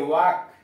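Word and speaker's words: walk: डब्ल्यू ए एल के, वाक, चलना। सब में देख रहे हैं यल साइलेंट कर दिया गया है।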